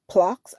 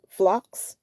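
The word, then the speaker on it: phlox: The flower, it is named after wild ground flocks. I'm flocks. I'm going to spell it P H L O X, also called moss pink.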